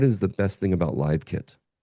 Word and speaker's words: LiveKit: It's spelled the same but pronounced differently based on the context.